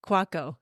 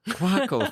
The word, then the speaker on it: Kwako: quaco well pronounced quaco quaco thank you yes it is like taco other way and so